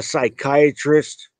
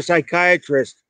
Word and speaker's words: psychiatrist: you cannot hear a psychiatrist go to the bathroom be thinking about it it's because you can never hear a psychiatrist using a bathroom you know why because the p is silent oh my god that's